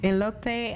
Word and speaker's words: elote: say how do you say it again ele elote and with h men but you can do